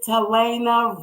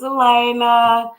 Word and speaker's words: Talaina: to the platform tonight miss telena right hey it's elena hi and i am pronouncing your name correctly right yes you are okay well to